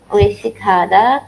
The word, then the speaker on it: 외식하다: Pronunciation-nya isik seperti isa atau 외식하다. Wesikhada.